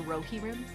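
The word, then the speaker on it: Rohirrim: Uh, someone says it's pronounced Rohi Rim. So, the ride of the Rohi Rim. It It's really pronounced Rohi Rim.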